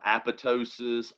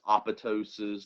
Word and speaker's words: apoptosis: also pronounce it um apoptosis apoptosis there's different ways you can pronounce it and really the debate is do you or do you not pronounce the second p okay that's what it's